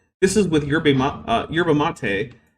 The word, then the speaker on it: yerba mate: This is with yerba uh yerba mate. Uh oh wait sherba mate is apparently how it's supposed to be pronounced.